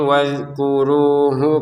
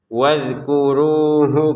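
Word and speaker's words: وَاذْكُرُوهُ: Mas'aril harami wadkuruh kama hadakum. Nah, di sini wadkuru jangan lagi dipantulkan ya. Jangan wadkuru w jangan wadkuruhu kama hadakum.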